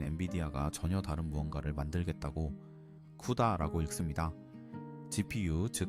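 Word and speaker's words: CUDA: 그래픽 카드 회사인 엔비디아가 전혀 다른 무언가를 만들겠다고 쿠다라고 읽습니다.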